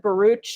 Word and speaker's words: Baruch: Isaac, he pronounces it Baruch. It's spelled like Baruch.